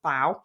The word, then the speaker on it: bao: is what I found so baoban's pronounced bow also known as Steam